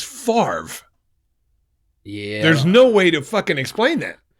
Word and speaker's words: Favre: professor explain Brett Favre the V is before the r fa but it's Favre yeah there's no way